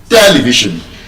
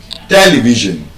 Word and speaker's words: television: television What if I told you when you check the transcription of that word in Oxford dictionary, it is stressed on the first syllable? And so, the correct pronunciation of that word is television. television television So, there are